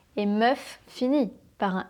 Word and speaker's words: meuf: Eh bien, meuf, c'est le verlan de femme. On inverse les sonorités. Meuf, femme, meuf, femme. Tu vois que femme commence par un F et meuf finit par un F.